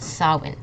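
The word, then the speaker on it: Samhain: it it's actually pronounced sawin I know that's really strange like sawin we don't pronounce this m and we don't this pronounce this H instead we have like this W sound in the middle so it's Sinn okay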